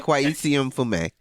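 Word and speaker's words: Kweisi Mfume: His name is pronounced Kwesi Mfume.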